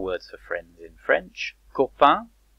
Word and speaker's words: copain: Copain, copain, with the un sound at the end.